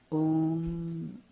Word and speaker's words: Om: Om, Om, When you say that Om consists of 3 sounds, Akara, Ukara, Makara, 2 syllables and 2 vowels and 1 consonant. Actually, it's 1 syllable. It's a monosyllabic sound.